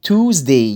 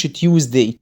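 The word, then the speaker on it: Tuesday: توزداي، يوم التلات اسمه توزداي مش تيوزداي، توزداي لان اليو اي بتعمل او. توزداي توزداي توز، ما فيهاش حاجه اسمها تيوز خالص يا جماعه.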